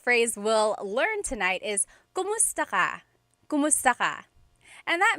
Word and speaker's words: kumusta: If you hear my pronunciation and then other people, when they say it, usually they say kamusta ka? Kamusta ka? So it sounds like it's spelled with a letter A, K-A-M, but technically it's spelled with a K-U-M. That's like the correct spelling of it. But the pronunciation usually is kumusta ka?